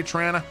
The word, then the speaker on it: Toronto: Everyone else says Toronto and people from Toronto say Trana. Where you from? I'm from Trana. No, you're not. You're from Toronto.